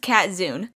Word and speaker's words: Katzun: are saying it right I know it's kind of hard to tell with the weird way it's spelled but my name is pronounced cat Xun onward to the video